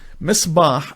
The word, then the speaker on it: Misbah: He paid him off, and Misbah rhymes with the word Timsah, which means crocodile in Arabic.